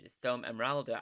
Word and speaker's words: Storm Emeralda: And this one has been trademarked and pronounced with an A, so Storm Emeralda.